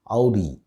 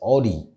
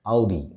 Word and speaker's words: Audi: how to pronounce it the right way to pronounce the name of this luxury brand is audi two syllables ow d some of us might be pronouncing it as auri or adi but the right pronunciation is audi whenever there's a talk